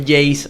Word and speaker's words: JAZE: Y bueno, y en realidad originalmente es Jace el nombre, o así es la pronunciación, claro.